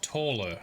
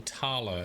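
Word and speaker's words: Thaler: So what I'm thinking is we need to meet someone called Taller, or Tala, depending on how you like to pronounce stuff.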